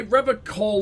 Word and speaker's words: Revachol: He pronounces, oh, okay, Revacall with a hard K.